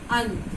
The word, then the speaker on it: अंत: अंत, अंत हमने बोला तो केवल हवा नाक से निकली।